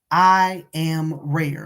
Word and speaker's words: IAMRAER: But also listen to the music by Monique Massey Jefferson and I Am Rare, and it's spelled IMREAR. No, I'm sorry, RAER, um, Rare.